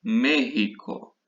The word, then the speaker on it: México: Entonces, en América del Norte tenemos un país que habla español que es México, ¿sí? Acordando, la letra X se pronuncia como si fuera una J, México, ¿sí?